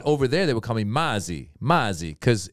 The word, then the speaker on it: Maz: his nickname was yes i'll call you i was like it's maz but you can't right that's the problem with